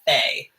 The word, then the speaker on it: fe: Now we have Faye. Faye. And if you look up this word, a Faye is like a fairy, like F-A-Y. But the syllable, of course, is F-E.